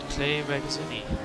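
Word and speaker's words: Clay Regazzoni: As we made the move in my second problem corner that I never get right, on Clay Regazzini. That's how you pronounce his name.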